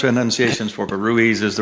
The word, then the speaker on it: Ruiz: Do you prefer that people have the pronunciation Ruiz? Is it really well pronounced, or do you say it a little faster? No, you nailed it right. Ruiz. Ruiz, okay. It's a four-letter word people mess up all the time.